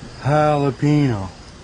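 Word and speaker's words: jalapeño: Ricky, the J's silent. I'm saying it wrong. The J's like an H, Ricky. Jalapeno. Not jalapeno. What in the fuck are you guys talking about?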